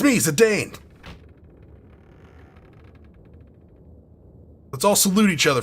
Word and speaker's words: Zidane: I'm going to call him Zidane. Why? Because Bane, Zidane.